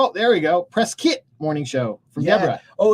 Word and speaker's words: Prescott: So but we will it's say how you Prescott pronounce it.